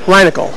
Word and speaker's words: Reinagel: From Airship 27, we move on to Reinagel. Is that how it's pronounced?